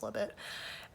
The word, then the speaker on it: Libet: The study that set this debate into motion was a 1985 experiment by Benjamin Libet, or Libet. I think Libet is better, but I guess it's pronounced Libet.